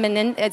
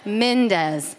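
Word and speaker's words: Mendes: But, or Sean Menendez, is that how you say his name? Yeah, Mendez, thank you.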